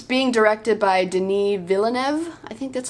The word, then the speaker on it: Villeneuve: and yeah plus it's being directed by Denis Villeneuve I think that's how you pronounce it and he's an incredible director he